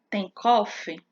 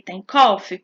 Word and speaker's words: Tenckhoff: chamamos de cateter de tenckhoff cateter que se escreve thank Hoff o cateter de tenckhoff